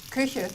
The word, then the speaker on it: Küche: Küche.